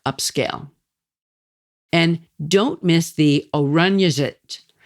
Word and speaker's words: Oranjezicht: And don't miss the Oranjezit. It's the city farmers market that's always open on a Saturday morning. And it's spelled Oranjezicht.